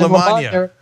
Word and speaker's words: LaMagna: All right, LaMagna. It rhymes with lasagna.